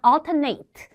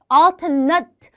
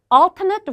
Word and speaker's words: alternate: 자, 요거 발음하실 때 얘는 지금 동사가 아니고 형용사입니다. 동사일 때에는 우리가 평소 때 친했던 발음이 아마 alternate 일 거거든요. 이게 동사 발음이에요. 그래서 alternate routes 말고 형용사니까 형용사 발음이 따로 있습니다. alternate alternate routes 이렇게 읽어주는 거.